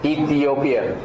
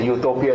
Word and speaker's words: Ethiopia: are the Africans any idea Kush Ethiopia yeah Ethiopia Ethiopia but a lot of people pronounce it Utopia Utopia no that is an ideal yeah Dreamland